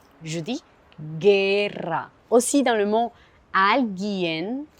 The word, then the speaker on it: guerra: Je ne dis pas guerra. Je dis guerra. Aussi dans le mot alguien, je ne prononce pas le U.